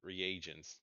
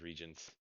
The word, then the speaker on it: reagents: contain the same reagents oh so that's how you pronounce it reagents I thought it was regents I I considered that it' probably be reagents but good work we'll